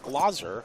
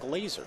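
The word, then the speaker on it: Glaser: off with pocket Force interesting that it's pronounced glosser and not Glazer he's specifically uh wrote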